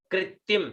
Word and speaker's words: कृत्रिम: बिंदी, तो उच्चारण इसका कृत्रिम, इसका उच्चारण होता है कृत्रिम।